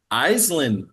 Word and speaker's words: Aislinn: I'm your host, David Stickle, and today I'm joined by Aislinn. Aislinn, yes, Aislinn that's. me. Oh, geez, I pronounced that horribly.